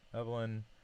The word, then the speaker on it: Evelyn: So, hey, I'm Evelyn, pronounced like Evelyn, nickname Eve.